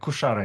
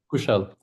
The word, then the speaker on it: Kushal: So, Kushar, if you Kushara, yes, am I saying it right? Yeah, Kushal, indeed.